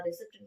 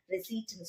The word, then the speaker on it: receipt: நம்ம maximum use பண்ற வேர்டுன்னா ரெசிப்ட் தானே. அது ரெசிப்ட் தான் சொல்லுவோம். ஆனா ரெசிப்ட்னு சொல்லக்கூடாது, ரெசீட்னு சொல்லியிருக்கணும். ஓகேங்களா?